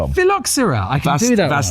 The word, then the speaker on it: phylloxera: absolutely destroyed by a thing called the philoxerde pronounce it Tom. Philoxera I can see that vastatric philoxer vastric